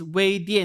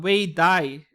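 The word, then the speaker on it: 尾蝶: It's Wei Die, not Wei Dai. Okay. Chinese pronunciation.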